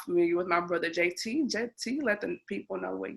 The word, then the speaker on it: Jaitee: at I am Jaitee, which is pronounced JT.